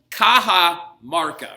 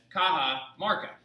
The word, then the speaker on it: Cajamarca: plan was to meet at the city called kaha marca right so do me a favor and put